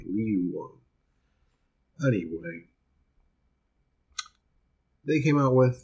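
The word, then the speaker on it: Van Leeuwen: I believe you pronounce it. It's Leeuwen. So I say Leeuwun.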